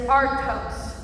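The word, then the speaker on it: ἄρτος: In the Greek text, the word for bread is artos. Say artos. Artos. Now say it like a Greek, artos.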